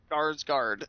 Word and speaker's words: Skarsgård: How do you pronounce the last name there? Skarsgård. Skarsgård.